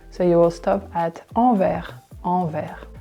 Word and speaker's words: Anvers: Anvers. It's the metro station you can go to if you want to go to Sacré-Cœur, for example. Sacré-Cœur. So you will stop at Anvers.